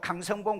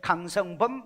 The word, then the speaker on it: 강성봉: 저도 가끔 내 이름을요 강성봉 그러면 될 건데 강성범 이렇게 하는 사람이 있어요. 발음이 어때요?